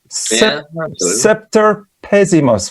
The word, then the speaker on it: Semper Pessimus: Semper Pessimus. Would that be the right pronunciation? Pessimus. So Semper Pessimus is Roman Latin, and it means the worst ever.